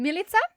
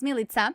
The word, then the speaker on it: Milica: the past couldn't pronounce milita because it's pronounced like pizza so i gave myself